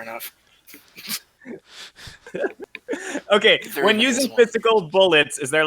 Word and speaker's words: Bullet❤️: the heart symbol and bullet it's actually not pronounced so the game is actually just called bullet yeah but in the